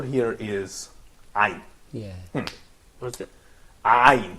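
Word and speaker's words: عين: You can say ayn.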